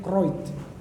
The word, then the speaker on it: Kruit: Kalau ditulis Kruit, kalau bacanya Aceh Kroit.